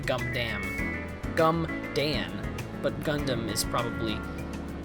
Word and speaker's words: Gundam: That's also wrong. Gumdan. It's actually Gundam.